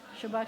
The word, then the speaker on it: Shabbat: a sample of Sephardic Shabbos is Ashkenazic and how would I say that in Sephardic Shabbat perfect who said that okay